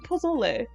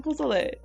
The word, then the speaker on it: pozole: It's pozole. It's pozole. Pozole like that.